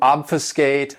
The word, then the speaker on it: obfuscate: This verb has 3 syllables, and the stress is on that first syllable, obfuscate. And what it means to obfuscate something is to confuse